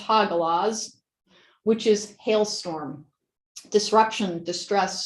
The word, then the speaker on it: Hagalaz: And then the meaning behind it is, it's apparently pronounced Hagalaz, which is hailstorm, disruption, distress, storm, setback, hidden blessings, unexpected.